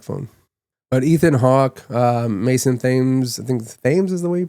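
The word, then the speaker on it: Mason Thames: I think I think it is called the black phone but Ethan Hawk um Mason Thes is the way you pronounce his name.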